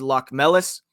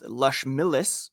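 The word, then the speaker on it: Locmelis: correct me, that Dan's Lockmelis signed his entry-level contract back on Monday. Lockmelis, of course, a 4th-round pick at the 2022 NHL entry draft. It's pronounced Lushmillis, according to the Bruins website.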